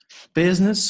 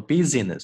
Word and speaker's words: business: Business School Admissions。我们来看一下这一道题。首先，大家把视频暂停一下，用大概30秒到40秒的时间，把整段话呢先通读一遍。好，我们来看第一部分。Business School 这个单词不要念成了 business，这个 I 是不发音的，OK，是 business。Business School Admissions